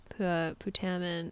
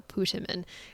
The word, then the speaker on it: putamen: in this area and our putamen is here or putimen really depends on how you want to pronounce it it there are multiple